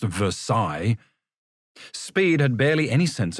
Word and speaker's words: Versailles: Copenhagen, Switzerland, Versailles, Versailles, which to his amazement was actually pronounced Versailles.